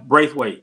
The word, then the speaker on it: Braithwaite: Brathwaite, is that how you say it? How you doing? He's another friend of mine. Yeah. Did I say the last name properly? Yeah, Braithwaite, yeah. Oh, it's Braith.